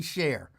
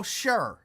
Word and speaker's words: Cher: I can understand him mispronouncing share. He saw share. How? And How? Because How can he mispronounce share? He saw sure. CHER could easily be pronounced sure.